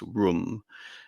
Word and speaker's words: Rome: Even though there's no agreed on etymology as to what Rome is, of course, Rome isn't pronounced Rome in terms of its origins. It's Rum, and Rum is supposed